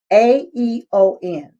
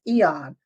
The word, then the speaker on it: AEON: Now it's spelled AEON. Okay. So I don't want y'all to, some people say Aeon, but it's Eon patches.